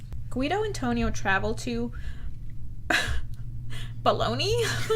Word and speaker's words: Bologna: The city of Bologna. Oh, in Italy it's pronounced Bologna. Bologna. That sounds familiar. Yeah. And then in English we say Bologna.